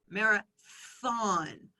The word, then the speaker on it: marathon: And so I had to remind them, marathon, thon. And so I often will put words that I notice my students having mistakes with.